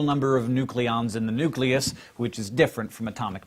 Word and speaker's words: nucleus: switch over to nucleus, which is, after all, how it's spelled.